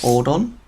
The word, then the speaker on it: Ordon: I think it's supposed to be pronounced Ordon, to be honest. That's how the Japanese would pronounce it, I think.